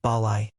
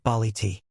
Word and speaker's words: ballet: For example, ballet is pronounced balai, not bali.